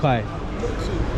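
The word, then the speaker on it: Boat Quay: It's in the boat key or boat quai. How do you say boat key or boat? Boat key. Boat key. Okay. Very nice. From a local.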